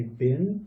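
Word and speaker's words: บิล: over here in Thailand, they don't really say bill for like a check. They say bin, so I'm assuming that that might be what this is. Yeah, bill. You'll hear people say check bin, and that's what they're saying, bin, but they're actually asking for the bill.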